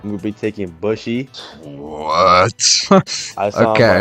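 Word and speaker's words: Bushi: Don't make him angry by mispronouncing his name now. He's gonna hurt you. Bushy, right? How do you say it? Bushy.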